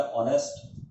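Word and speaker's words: honest: हाँ, अगर ऐसा शब्द हमारे को मिले तो इसके पहले आप एन का प्रयोग कर सकते हैं, क्योंकि आपने उच्चारण सही किया, ऑनेस्ट, ठीक है ना।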